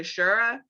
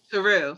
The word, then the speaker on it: Saru: Like, even though that one character, Shura, was it Shura or Saru? Saru, sorry for pronouncing that wrong.